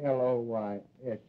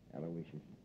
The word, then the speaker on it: Aloysius: i guess you deserve a break yeah you spell that uh middle name right it's i u a-l-o-y-s-i-u-s aloysius sure how could i miss it aloysius uh